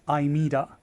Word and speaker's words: Aimeeda: it Ela however um as shown in the CN and Japanese virsion is is spell or pronounce as imida a i m e